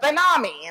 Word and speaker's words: BenAmi: And he wrote back, it's E-L-A-W-N, like, salami. So, but BenAmi instead of salami, which gets me to say it, BenAmi.